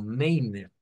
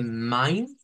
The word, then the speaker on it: mein: Y aquí es donde diríamos, bueno, eso pareciera que suena como Mainer de ahí. Pues sí, pero lo estamos leyendo en español. El problema con esto es que no suena así.